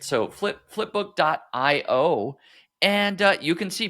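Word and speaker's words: Flpbk: and that website uh here is essentially it's pronounced flipbook you not spelled uh that way I mean the idea is that it's a flip book but it's F LPB k.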